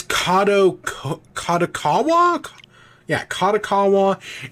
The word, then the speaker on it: Kadokawa: is in talks to acquire um kako or kakawa I've always for some reason in my memory it's kotak kaawa which is right I mostly know them from anime right kod AWA but it's kado kakawa yeah kakawa it's it's not what I thought